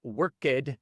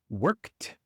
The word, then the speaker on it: worked: Pero tienes que recordar que no se pronuncia la e. No es worked ni played, es simplemente worked, played.